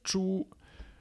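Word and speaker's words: 猪: Ensuite, tu as bien évidemment le porc qui se prononce chu, voilà.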